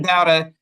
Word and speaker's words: Dauda: So are you Mr. Dowda? Is that how you pronounce it? Dowda, D-A-U-D-A? Yes, sir. Okay. Mr. Dowda, you are what we call a fugitive from justice.